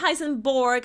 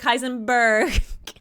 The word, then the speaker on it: Heisenberg: plank beside Madame curi heisen not heisen Borg Heisenberg okay uh yes we